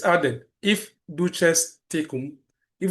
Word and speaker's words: duces tecum: That means that you need a subpoena duces tecum or some will say the key you know uh tecum but in Latin it's pronounced the duces uh duces tecum.